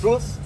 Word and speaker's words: Truls: So, on this first album, your current bassist, how do you pronounce Truls? Truls. Truls recorded guitars and also sang on a couple of songs.